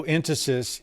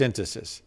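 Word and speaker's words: entasis: spelled e-n-t-a-s-i-s um uh and I've I've heard the enunciation entices and and tacos and you know fastest is on the wrong syllabus yeah I think it's instances so um it's basically that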